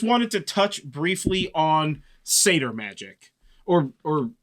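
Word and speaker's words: seiðr: dives, I just wanted to touch briefly on satyr magic, or how do you pronounce it? Satyr magic.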